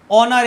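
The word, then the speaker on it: honour: কোনো ব্যাপার নেই, অনার এইচের উচ্চারণ অয়ের মতো যদি হয়, তার মানে তার আগে আমি অ্যান বসাবো।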